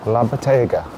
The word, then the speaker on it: La Bottega: And how is it pronounced again? La Bottega.